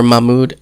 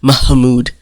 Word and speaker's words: Mahmoud: They're all looking at each other, and, he's telling her, or Mahmoud, and she calls him Mahmoud. That drives me nuts. Like, say his name in like 2 syllables, not 10.